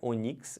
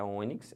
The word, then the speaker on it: ônix: Não é onix, é ônix.